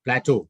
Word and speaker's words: plateau: read the last one plateau is how pronounced this word plateau what is the meaning